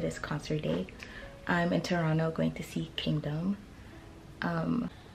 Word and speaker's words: Toronto: Toronto. Without the T. No. No T. No T. Like Aromas. Yeah. Toronto. Yeah. I'm sorry that I said Toronto in the beginning.